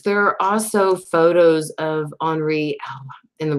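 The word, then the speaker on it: Henri: restrained and excuse me I always want to say Henry but it's Audrey I want I know I'm saying it wrong so I just want to be respectful and try to say it right Audrey wasn't wearing one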